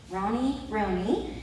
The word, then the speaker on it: Roney: Those of you that have been looking at it, wondering how to say it, Roney.